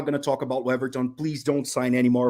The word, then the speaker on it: Weverton: Waverton, isn't it? How do you say his name? Yeah, it's Weverton. Weverton.